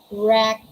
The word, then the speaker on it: wreck: is the letter w is not pronounced at the beginning of a word when it is before letter r yeah we're very familiar with that we're always you can always encounter such words with silent w because they come before letter r w first and then there's the letter r all right so these are the examples we have right rest wrong wreck and rap all right